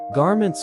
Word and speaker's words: garment: The word is GAR-ment, with the emphasis on the first syllable, and ment rhyming with went.